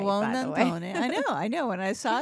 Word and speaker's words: Buonantony: Buonantony.